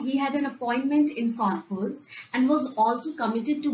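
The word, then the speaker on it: Kanpur: w n p o r e which is pronounced as kpur is actually the British spelling for kpur a city in up so after hearing his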